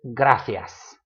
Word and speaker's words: gracias: But the C has that th, that th, theta sound. Gracias. I cannot fake a Spaniard accent to save my life, because I will inevitably end up saying gracias and say them both